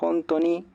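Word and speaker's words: ほんとう: eh Y en realidad la palabra jonto esta jonto tiene una u al final sería como hon to así con esta u al final onto em Pero bueno cuando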